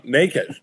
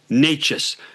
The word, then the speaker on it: Necas: They brought in Nate I always say this guy's name wrong. Necas, who's been So, here's Here's the Here's the key.